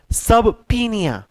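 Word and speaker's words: subpoena: अगला वर्ड आ गया है सब पीनिया। अगला वर्ड है सब पीनिया। अगला वर्ड है सब पीनिया। इसका प्रोनाउंसिएशन थोड़ा सा अजीब सा है, सब पीनिया।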